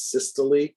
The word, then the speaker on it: systole: That is pronounced systole.